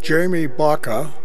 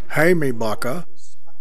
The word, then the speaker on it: Jaime Baca: Jaime Baca, or properly pronounced in Spanish, Jaime Baca, was one of the two waist gunners of the crew.